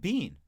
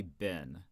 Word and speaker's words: been: I was like, oh, he says it like bean. That's interesting. And I didn't know, because I would say most Americans say bin.